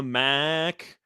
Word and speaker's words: MAC: Uh, it's always tough in the MAC. Is that how you pronounce that? The MAC?